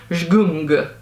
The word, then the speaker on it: Zgung: Zgung, I think is the right way to pronounce.